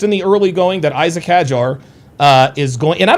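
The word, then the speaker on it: Isack Hadjar: the early going that Isaac Hajar uh is going and I don't know if he like he says he likes it pronounced Isak Hajar.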